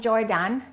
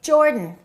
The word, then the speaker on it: Jordan: Don't say he is from Jordan. Reduce that a and say Jordan.